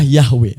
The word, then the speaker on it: Yahweh: Meskipun nama aslinya tidak diucapkan, pengucapan yang umum adalah Yahweh. Pengucapan lain seperti Jehovah dan Yehuwa juga digunakan oleh sebagian orang.